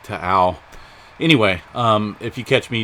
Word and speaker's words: Taal: Volcano TAAL is how you pronounce it. I looked it up. I had to do a double check, but I thought it was TAAL, but I guess it's like TAAL.